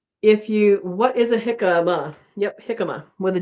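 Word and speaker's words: jicama: If you What is a hikama?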